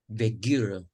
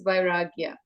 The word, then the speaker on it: Vairagya: we seek that grace to escape from this Vegira, you know?